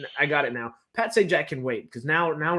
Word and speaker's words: Sajak: like whose last name I got it now Pat Sajak can wait because now now we're thinking oh